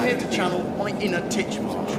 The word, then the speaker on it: Titchmarsh: I'm here to channel my inner Titchmarsh, and no, the emphasis isn't on the first syllable, shut your disturbingly square